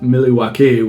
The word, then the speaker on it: Milwaukee: 414 MK Cream City Milwaukee actually it's pronounced milwa which is Al gangin for the good life I love my city